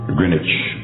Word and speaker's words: Greenwich: Our prime meridian in the world is located in Greenwich. That's how they pronounce it.